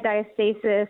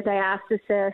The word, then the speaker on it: diastasis: And I'm sure you may or may not have heard of recti diastasis or diastasis. I've heard it pronounced both ways.